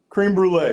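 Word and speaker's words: crème brûlée: Creme brulee.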